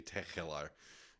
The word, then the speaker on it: Tegelaar: In fact, I could even make the G a little more throaty if I wanted to. I could say Tegelaar, and then Ooh. I would be even more local sounding.